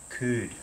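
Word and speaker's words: Cude: the United States it belongs to Ed could c-u-d-e I've got that pronunciation correct and you'll find him on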